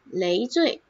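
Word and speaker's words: 累赘: 累，累，累赘，累赘。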